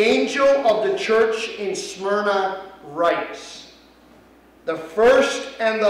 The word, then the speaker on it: Smyrna: Nicole, do you know how to pronounce that word? Smyrna.